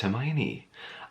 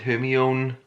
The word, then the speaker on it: Hermione: people in Harry Potter we did not know that Hermione was pronounced Hermione I was one of those Mary few who pronounced it her me own four years but there we are